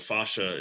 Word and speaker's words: fascia: a lot of times it's it's it's it's pronounced spaceship but it uh but fascia is is more the the traditional uh pronunciation